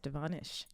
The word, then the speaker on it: DeVonish: Yes, DeVonish. She said, pronounce it right. Nish. I said, did you call me a nigga? She said, no, Nish.